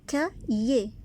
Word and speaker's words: cahier: Un cahier. On ne prononce pas H.